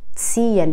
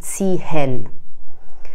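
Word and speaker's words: ziehen: یا اینکه تین به معنی کشیدن، تین، نمیگن تیهن.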